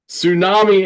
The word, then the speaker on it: Sŵnami: I'm guessing not much so tsunami is how you pronounce the name as I mentioned earlier